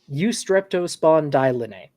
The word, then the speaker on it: Eustreptospondylinae: The second group are the Eustreptospondylinae. How many syllables is that? Say that again. 7 syllables. Too many. Eustreptospondylinae.